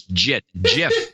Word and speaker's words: Git: It's a G. It's a soft G. It's always JIT.